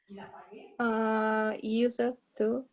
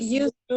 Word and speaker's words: used to: Use it to. What? Use it to. Use it to? Used Yes, to. Pronunciation. used to.